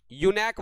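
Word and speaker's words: eunuch: देश टूट गया तो मतलब समझो कि लोग टूट गए, यानी कि वो गरीब हो गए हैं। चलिए इसी के साथ में नेक्स्ट हमारी जो वर्ड है स्क्रीन के ऊपर आ चुका है। चलिए, यूनैक। यूनैक बोला जाता है भैया, यूनैक बोला जाता है।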